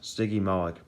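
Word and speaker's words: Stygimoloch: punch uh sticky molex say it like this sticky malik lived late cretaceous 68 to 66 million years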